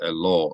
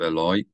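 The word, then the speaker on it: אֵלַי: with uh Hebrew grammar a little mistake like I made there where I said hello instead of Eloy it's not just being niticky about pronunciation it actually significantly changes the meaning of the word a law would be to him whereas Eloy is unto me from the beginning one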